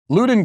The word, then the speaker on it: Loudoun: Okay, from the Daily Wire, it says Loudoun County, Virginia, and eventually I'll figure out how to actually pronounce Is it Loudoun?